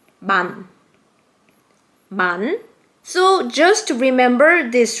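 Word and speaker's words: 만: It's called man.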